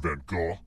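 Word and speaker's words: Van Gogh: again which famous painter was roommates with Vincent Van go yeah that's how you pronounce his name I was an art major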